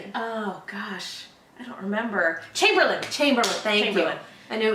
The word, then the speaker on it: Chamberlain: gosh I don't remember Chamberlain Chamberlain thank you I know it was he was just like Mario earlier in the episode that was great it was three syllables in British I just didn't remember